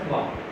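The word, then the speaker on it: trois: This 3 is called thwa. And how come? Not twice, because for English I would be pronouncing it twice, but here it is thwa. Why? Because in French T and R, these two letters, they are together, they are bound to produce a sound ha.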